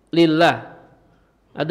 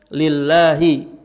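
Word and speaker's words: لِلَّهِ: Lillah ada huruf apa? Lillah ada huruf jer li. Lillahi makanya dibaca lillahi bukan lillahu bukan lillaha. Bacanya lillahi karena kemasukan huruf jer.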